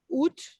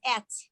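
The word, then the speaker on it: אֶת: Barihu, Ut, Nope, that's et. I'm sorry, at.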